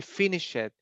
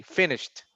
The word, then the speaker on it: finished: Like, for example, when you say I finish it, remember the ed is not normally pronounced like it. It's like the t finished.